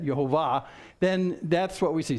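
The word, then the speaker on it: יהוה: When you see Jehovah, which actually in Hebrew is pronounced Jehovah instead, Yehovah, then that's what we see.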